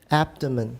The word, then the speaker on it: abdomen: a mispronunciation go ahead abdomen that's right abdomen abdomen abdomen abdomen the stress is now on the first syllable the next one some